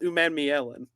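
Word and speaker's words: Umanmielen: So it's pronounced Umamielen.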